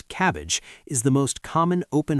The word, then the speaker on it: CABG: A coronary artery bypass graft, a CABG, which surgeons pronounce cabbage, is the most common open heart surgery.